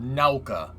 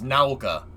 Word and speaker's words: Nauka: he calls it now now it's called naoka like you pronounce the u like owl naoka that's yeah look i